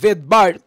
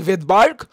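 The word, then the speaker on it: Svedberg: এটা হচ্ছে ভেদবার্গ ইউনিক যদিও আমি উচ্চারণ করতেছি ভেদবার্গ বাট এর বানানে কিন্তু প্রথমে এস অ্যালফাবেটটা আসে সো একজন সাইন্টিস্টের নাম ছিল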